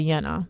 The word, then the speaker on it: Jane: how about that but she goes by yenna because that's how you pronounce Jane yenna yes in Denmark oh God so what